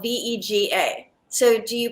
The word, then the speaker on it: Vega: I guess, being a green, like a green powder, I would think it would be vega, like vegetarian, or vega, like vegan, but it is pronounced vega.